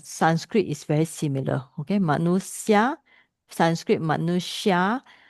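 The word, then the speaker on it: manuṣya: Manusya, Sanskrit manusya, Pali will be SY become SS, manusa.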